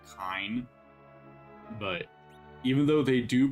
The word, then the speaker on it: Kain: Kain. Technically, kind. And in Japanese, they use ka eaten to spell his name. So, technically his name should be kind.